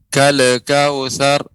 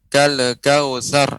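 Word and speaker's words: الكوثر: Ibu, pengucapan lam kal kautsar jangan sampai terdengar seperti lamnya ini memantul. Kal kautsar, akan tapi kal kautsar.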